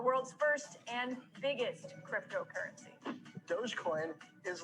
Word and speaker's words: Dogecoin: to pronounce this thing doggy dog coin it's dogecoin the digital currency started as a joke between two software engineers in 2013.